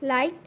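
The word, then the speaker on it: light: এ আর K next লাইট এল আই জি এইচ টি লাইট আছে জি এইচ যেটা আছে সেটাও কিন্তু silent word next big বিগটা বি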